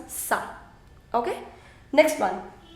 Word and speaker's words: ça: I don't want to say kava. Right now it is kava. I want to change it into ça va. So with accent cédille, it becomes ça.